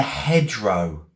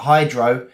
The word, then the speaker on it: hedgerow: h e d g e r o w hedge row hedgerow. What's a hedgerow, guys? Birds were nestling in the hedgerow. What's a hedgerow? Not hydro.